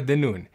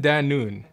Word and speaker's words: Danoun: specialized neurologist Dr de noon the noon is like noon time Dan noon that's how I say my name about a third of